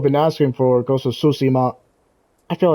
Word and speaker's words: Tsushima: Ghost of Tsushima. Yeah, I was saying sushi. I was saying something odd.